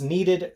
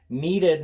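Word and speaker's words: kneaded: you to was this needed great eraser needed not like you need an eraser in EE D know this is KN EAD the K is silent it's needed because it's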